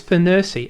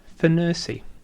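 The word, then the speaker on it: FNIRSI: to pronounce it it's I believe it's Fury f n i RS I Fury USBC comes in a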